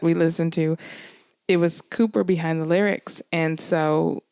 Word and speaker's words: Cowper: that told me that it's not calpers cooper yeah i would have definitely said calper i i have this